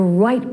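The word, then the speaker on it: Wright: of the 20th century the White Brothers conquered the air that's right with the silent W on December the 17th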